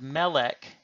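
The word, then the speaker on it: מלך: will be indicated so the word melech that we have used previously in our examples which is the Hebrew word for king is stressed on its first syllable and that will be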